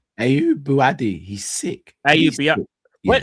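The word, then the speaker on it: Ayyoub Bouaddi: How do you pronounce this guy's name? Ayub Buadi.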